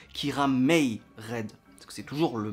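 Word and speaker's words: Kiramai Red: C'est pour ça que le nom des héros, ça s'écrit Kirama Red, mais ça se prononce Kiramei Red.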